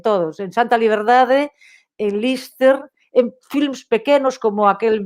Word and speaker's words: Liste: final, ese bosque é o bosque onde gravei escenas o teatrillo da película Liste pronunciado Lister, na Guerra Civil, que era o teatrillo na guerra.